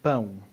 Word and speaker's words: pão: pau and pão. Bow and bow. It's a bit more nasal.